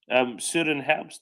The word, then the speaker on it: Søren Herbst: I was just going to say what a wonderful thread that was from Soren Herbst or something like that. Is that the pronunciation? Søren Herbst, yeah.